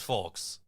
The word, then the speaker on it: folks: Don't steal content, folks. Yeah. Also, don't pronounce the L in folks.